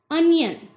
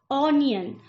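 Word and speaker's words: onion: अनियन, जिसका wrong pronunciation क्या बोला जाता है अधिकतर? ऑनियन। ऑनियन इज नॉट a right pronunciation, यह सही तरीका नहीं है।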